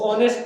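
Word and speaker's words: honest: मैं मिसाल देता हूँ, ये क्या लफ्ज है, ऑनेस्ट नहीं पढ़ते इसको ऑनेस्ट पढ़ते हैं।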